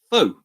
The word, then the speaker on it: faux: Faux. It's French. There's an F-A-U-X. X on the end. Means false. So it's a silent X.